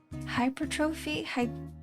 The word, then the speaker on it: hypertrophy: Am I pronouncing that correctly? Hypertrophy. Hypertrophy. Like atrophy. But like hypertrophy. The second one is correct. Okay. And strength training is different. So it is hypertrophy. English is funny because when you look at that it looks like two words. It looks like hyper and trophy. Yeah. Hyper and trophy. But then when you pronounce it, it's not hypertrophy, it's hypertrophy.